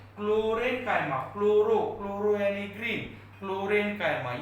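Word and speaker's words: chlorenchyma: Spelling को concentrate करो, इसको बोलते हैं क्लोरेन्काइमा।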